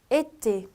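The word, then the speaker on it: été: 액센트가 있는 경우에 약간 입이 닫힌 상태의 에로 발음해서 에떼, 여름이라는 불어 단어예요.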